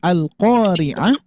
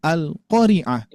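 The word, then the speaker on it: القارعة: Jadi enggak apa maknanya yang asalnya alqoriah hari kiamat ini malah dibacanya alqoriaah. Jadi qanya tidak dibaca panjang maka bisa jadi tidak apa maka bisa berubah makna atau tidak ada ma maknanya.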